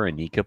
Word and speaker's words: Anika: But call her Anika, please. Is it Anika? It's Anika, but she goes by Annika because apparently no one knows how to pronounce Anika.